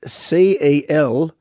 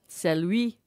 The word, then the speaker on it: Celui: It's spelt C-E-L-U-I. Celui. It's French.